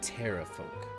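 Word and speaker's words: pterafolk: those are the ones the p is silent it's just Terra folk oh like pterodactyl yes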